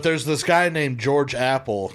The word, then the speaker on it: Appel: But there's this guy named George Apple. Now his name's spelled Appel, Right. but it's still pronounced still Apple, Apple. right? So he's Not Appel.